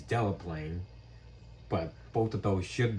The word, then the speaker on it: Delaplane: and we're signed for Dauphin Lane and Paris. Yeah, that should be Winchester. Also, that is pronounced Delaplane. I'm surprised you got the second one right, but the first one is Delaplane.